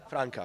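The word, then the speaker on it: Franca: me and uh how do you how you pronounce the name of the movie franka or francha franka franka chaos and creation is the let's say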